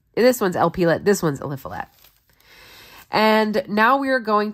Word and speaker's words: Eliphelet: This one's Eliphelet.